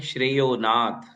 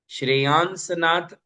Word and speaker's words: श्रेयोनाथ: नाम बन जाता है श्रेयोनाथ, श्रेयोनाथ। श्रेयांसनाथ ऐसा नाम बनता ही नहीं है। हिंदी में आप जो चाहो बोल लो, किंतु श्रेयांसनाथ ये संस्कृत की दृष्टि से गलत प्रोनाउंसिएशन है।